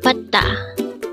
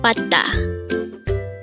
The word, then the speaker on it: 받다: 받다. Again, it's 받다. Again, it's 받다. This pronounced as a two-syllable word. The first syllable is 받, second syllable is 다.